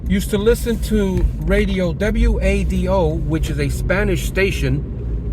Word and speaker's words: WADO: to listen to radio w-a-d-o which is a Spanish station an AM station in Patterson and it's pronounced radio wado so I don't know